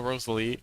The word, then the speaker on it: Rosalie: Um as much as I adore Rosalie, am I pronouncing that right? Rose Ellie L. Rosel. Rosal. As much as I adore Rosalie, um I I'm not going to be Rosal.